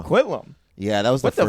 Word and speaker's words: Coquitlam: Coquitlam's like weird.